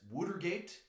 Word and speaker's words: Watergate: area the Billboard says wood or gate which if you're wondering why it says wood or gate it's because that is how people in Philadelphia pronounce Watergate but you see a